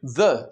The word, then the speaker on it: the: Now, normally, the is pronounced the pen, the telephone, the terrible teacher, etc. However, when it is used before a vowel sound, it is pronounced the with an elongated E.